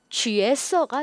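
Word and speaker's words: 角色: 자, 이렇게 해서 우리 살펴봤고 여기서도 좀 발음 체크할 게 요 모서리 각자가 사실은 모서리라는 코너, 모서리라는 의미로 쓰일 때는요. 지아오라고 읽어요. 지아오라고 읽습니다. 그런데 우리가 배역 역할이라고 할 때는요. 쥐에라고 읽어요. 그래서 쥐에서가 되죠. 쥐에서. 중국 사람들도 국어 공부 열심히 안 한 사람들 막 지아오서 하는 사람이 있습니다. 하지만 우리 정확한 발음 뭐다? 쥐에서다.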